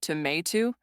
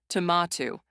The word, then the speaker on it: tomato: Americans say tomato. British say tomato.